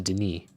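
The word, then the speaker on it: D'ni: there back here to Deni? Oh, Dunny. That's what this that's how you pronounce this because I remember that place is called Dunny.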